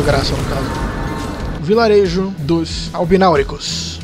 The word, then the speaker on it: Albináuricos: Vilarejo dos Albináuricos. E é assim que se pronuncia mesmo.